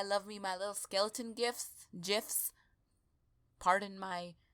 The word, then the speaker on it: GIF: And you ghouls know that I love me my little skeleton gifs. Pardon my mispronunciation, it's GIF. Like the peanut butter.